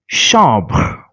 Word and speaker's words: chambre: Chambre. Here, after AM, we cannot see any vowel, so we are pronouncing the nasal sound as it is.